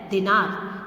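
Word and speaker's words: dinar: में, डिनर एंड दिनार, इसका प्रोनाउंसिएशन एक्चुअली दिनार होता है।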